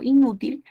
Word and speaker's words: inútil: Entonces, cuando yo pronuncio, por ejemplo, inútil, en esta palabra, la segunda es la que lleva la mayor fuerza de voz.